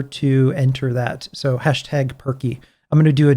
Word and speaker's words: Purkey: you hit the hashtag perky that's turkey but with a p um shia who's uh